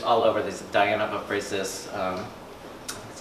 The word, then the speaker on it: Ephesus: I had gone to Rome last year to turn 50, and there were these coming, there's all over these Diana of Ephesus, that's how you say it, sculptures, a fertility symbol, these women that are kind of multiple breasts.